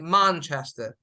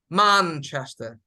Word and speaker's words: Manchester: Manchester Manchester right so there are some ways if you people come from America they will say Manchester but those coming from the yoga Desi Manchester Manchester those both are correct Manchester is okay Manchester